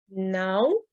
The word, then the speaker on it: não: Sur les 6 sons à connaître, não, donc la diphtongue à tilde O, donc nasale, não, estou, donc avec le